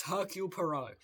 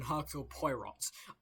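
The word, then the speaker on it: Hercule Poirot: Okay, it's Hercule Perau. That makes a lot more sense than Herk Pyrot.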